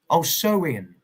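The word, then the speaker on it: Samhain: It began over 2,000 years ago with the Celtic festival Sam Hayne or pronounced oh so in oh so in celebrated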